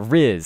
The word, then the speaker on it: rizz: saying Riz oh yeah Riz so it's short for Charisma this is Noah's uh